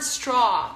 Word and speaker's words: straw: to say it correctly the word straw adds an AW and for that sound you need to drop your jaw the word jaw has the same ending as straw it's aw so ah the sound